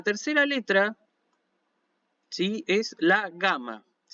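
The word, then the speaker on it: γάμμα: pues lo pudieran practicar cómo se pronuncia la gama bueno la gama siempre se pronuncia como una g pero no como una g nuestra sino como la g de gato lage suave o sea que es la que digo siempre el sonido de g suave nunca el sonido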